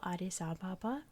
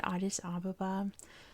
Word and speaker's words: Addis Ababa: the capital, Addis Ababa, which I've heard pronounced so many different ways. I've always said Addis Ababa, like my whole life. I've heard Addis Ababa, it's one of those. Like, take your pick. It's probably one of those, just depending on where you are in the world, is how it's properly pronounced.